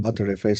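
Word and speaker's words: Btrfs: will it will Common be pronounced batter FS such as like batter that you spread on the bread uh so these are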